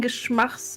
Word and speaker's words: Geschmacksverirrung: You saying Geschmacks is Geschmacks. Geschmacks. Like you say in it sucks. Geschmacks. Yes, Geschmacks. And then Verirrung.